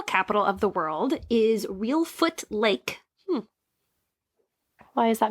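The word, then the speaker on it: Reelfoot: way I don't know because it's not spelled like real but it sounds like it's real foot like a real foot not a fake foot you asked what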